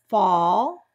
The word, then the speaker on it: fall: aw want wash wasp now when the a is followed by the l or a silent l in a single syllable words the words uh that have that a is going to make the ah sound okay fall tall hall